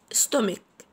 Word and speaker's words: stomach: تالت مكون عندنا المعدة، stomach stomach stomach stomach. والسي اتش بننطقهم كي، بنقول stomach stomach stomach.